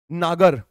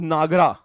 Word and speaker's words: नागर: जैसे द्रविड़, नागर phonetically pronounced as Nagara, Dravid which is phonetically pronounced as Dravidaya, and that's why I don't like phonetics.